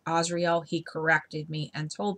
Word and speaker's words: Azrael: archangel azrael some people mispronounced his name as azrael his name is pronounced asriel he corrected me and told me okay and